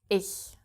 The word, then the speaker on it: ich: And yes, you don't only have this after the E, but also after the I. So, ICH becomes ich.